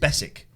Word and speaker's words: Beswick: listen to the excellent alan beswick or apparently his name is pronounced besik bessick yeah he says but